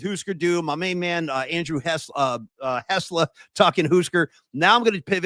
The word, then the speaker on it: Hessler: Yeah, Andrew Hessler rhymes with Tesla, but don't trash his car.